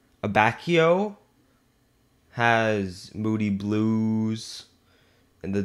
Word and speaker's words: Abacchio: to pronounce, and then, Abacchio, right? Pronunciation is spot on.